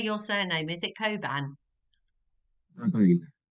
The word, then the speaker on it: Cobain: how do you say your surname is it Coban Co say that again Coan like right okay yeah it is it's on